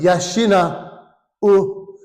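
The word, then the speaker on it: 養う: Yashina u. The u is pronounced u, slightly separate.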